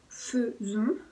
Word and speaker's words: faisons: Entonces es je fais, tu fais, il fait, nous faisons. Entonces ahí se escribe A-I, pero lo pronunciamos más como si fuera una E.